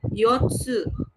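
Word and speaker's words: 四つ: saya bahas tadi ya, untuk benda empat, benda keempat itu bacanya yotsu ya, empat buah yots. Sedangkan kalau dia untuk eh April bulan dia pakainya she bukan pakainya yong gitu ya. Kalau misalnya hari keempat itu pakainya Yoka atau tanggal 4 itu sama gitu.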